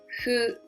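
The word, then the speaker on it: ふ: is that who sound we write f u in romaji but doesn't mean fu we don't have the fe sound so we pronounce hu blow like that not the foot but who so the pronunciation is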